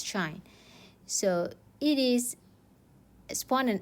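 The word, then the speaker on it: sinh: the hyperbolic sine or we call it as shine we pronounce it as shine so it is spawn and x minus that spawn and negative x divides by 2.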